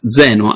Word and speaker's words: Zeno: name is written then without an h and pronounced Zeno as I said right we added the H